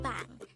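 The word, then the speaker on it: 방: for room is again it's bang this is pronounced as one syllable word pronounce it how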